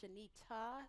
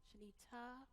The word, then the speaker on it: Shanita: cause and say, so my first name is pronounced Shanita, like ta-da, Shanita.